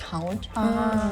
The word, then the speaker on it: hond: it's a little bit more similar to English, it's more like Hound.